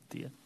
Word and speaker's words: Tia: Tay? Tia. Hello, Chairman, Board of Supervisors. It's Tia, just correcting pronunciation.